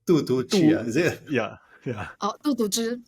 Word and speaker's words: 杜笃之: Walter Murch, or I don't know how to pronounce this guy's name. Tu Tu Chi, is it? Yeah. Oh, 杜笃之. Yeah, Tu Tu Zhi.